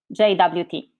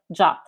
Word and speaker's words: JWT: hear the pronunciation as jwt but the rfc suggests the same pronunciation as the english word jot by the way jot